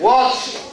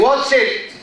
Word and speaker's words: watched: Watch, watch television, watched. We say watched. We don't say watch it. No. So if the last sound in the verb is voiceless and we add ed, the ed is pronounced as te.